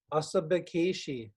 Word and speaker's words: Asabikeshiinh: So let's review the pronunciation of the words in the song. Asabikeshiing, spider.